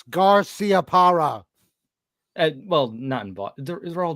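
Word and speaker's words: Garciaparra: that's what's getting me it's the way you're pronouncing the c it's garcia para well nothing but they're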